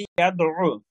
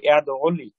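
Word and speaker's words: يَدُعُّ: যেমন আমরা অনেক সময় আইনের যে দাল আইন ফেস দু, দাল মানে আইনের উপর তো তাসদীদ, এই জন্য আইন দুইবার উচ্চারণ হয়, দালের সাথে একবার দাল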